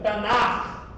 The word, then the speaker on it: Tanakh: O correto, CH no hebraico tem som de R. E R não é 2 R's, é um R. Tá bom? Pronúncia, Tanakh.